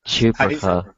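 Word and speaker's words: CHPRAKA: do you say it it's cha chaa sounds like chupacabra for some reason it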